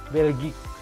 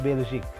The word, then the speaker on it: Belgique: Nah, kalau ada Q, lalu ada U, huruf U itu dibacanya, diejanya adalah U. Dan ada E atau juga huruf hidup lainnya, maka si U-nya ini tidak dibaca. Dan E di ujung itu samar-samar, maka dibacanya jadi Belgique. Dan bukan Belgique. Apalagi Belgique, salah.